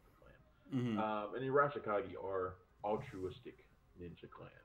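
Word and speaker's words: Arashikage: But he also befriends Tommy Arakishagi. Of that clan, the Arashikagi clan. It's Arashikagi, but I've never been able to say it right.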